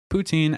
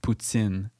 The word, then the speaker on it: poutine: Also, note the S sound made when pronouncing poutine in Quebec French.